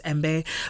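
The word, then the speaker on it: djembe: more with the yeah the d is silent for sure and then you hear more like that j that just sound so the j comes together as embe but you'll find that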